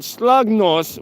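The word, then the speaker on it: Slagnäs: want to find out this place it's called slogos which is spelled like this s l a g n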